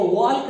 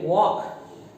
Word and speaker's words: walk: WAL के, इसको वॉल्क नहीं, इसको बोलेंगे वॉक, ओके, वॉक, वॉक नहीं बोलेंगे इसका प्रोनाउंसिएशन। जबकि स्पेलिंग को देख करके इससे मैच होता हुआ लगता है, काम जैसा लगता है, जबकि इसमें ओ का स्लाइड साउंड आएगा और आप बोलेंगे, क्या बोलेंगे, वॉक।